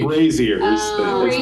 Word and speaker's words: brazier: no no they're not there's a z brazers brazers like Frasier like